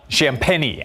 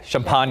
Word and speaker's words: Champagnie: Well, it's similar to champagne in spelling, but that's what I thought. Champagnie. Yeah, champagne is what I was going to say. A fine champagne.